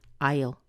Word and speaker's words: I'll: it as a contraction you've got to say il now you hear the tiniest little schwa between the I and the L don't really make it into two syllables it's not but there's a tiny little us so you end up with Isle Isle Isle Isle it